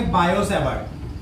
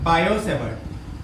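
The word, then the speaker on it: Biot–Savart: बायो-सेवर्ट, T silent है ना, बायो-सेवर्ट।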